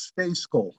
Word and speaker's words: Stejskal: sometimes greg welcome it it's pronounced nothing like it looks it's space gold like it was s-t-a-y